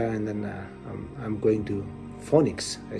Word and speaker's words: Phoenix: He laughs first, and then he goes, that's not Phoenix, that's Phoenix. And that's how I learned my first, the first correct pronunciation of the city that I was actually gonna call my home with my family.